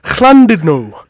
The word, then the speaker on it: Llandudno: When there's two L's in front of a word, you pronounce it with a C, so it's Llandudno.